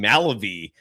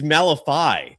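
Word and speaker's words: Malevy: I've been saying Malibu for about two months. It's Malifi.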